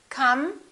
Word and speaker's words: come: Come over. Let's link those together. We have an M at the end of the word come. The E after the M is silent.